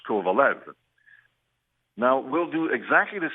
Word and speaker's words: Kovalev: if we go by the international pronunciation we'd have to go and say sof the same way we did or uh for Alex kovalov uh a few years ago but Alex asked us to pronounce his name the North American way so we agreed and we went from kovalov to Alex kovalev now we'll do exactly